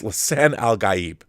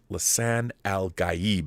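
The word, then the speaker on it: Lisan al-Gaib: Savior or Lan Al Al gab G it's Lan algib the one who will save araus it's Lan alib is how you pronounce it multiple characters State over and over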